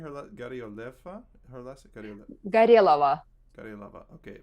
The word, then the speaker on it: Gorelova: Right, and the thing is, if you know the Russian language, if you have accent on the O, it will be O. But if there is no accent on the O phonetically will become A. So you will pronounce Ga, Re, Lava.